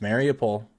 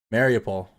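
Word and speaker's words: Mariupol: to the east there's mario pole i'll try to say it right eventually oh i've been saying it wrong for weeks now apparently mario paul right there's hostile steel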